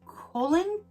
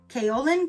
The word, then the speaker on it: kaolin: is a bamboo charcoal and colon not colon but how do you say that k a o kaolin clay is the mask to